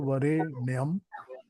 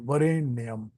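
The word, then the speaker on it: वरेण्यम्: गायत्री गायत्री मंत्र का शुद्ध उच्चारण क्या है उच्चारण भूर भुवा स्वाहा त तुर वरेणम वरेणम वर्ण करने योग्य वरेण्यम भर्गो देवस्य धीमहि धियो योन प्रचोदयात नः हम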